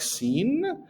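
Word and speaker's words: سين: is the abdomen and this is the seen seen similar the name of the letter it's like seen and we will pronounce it as s s scen so now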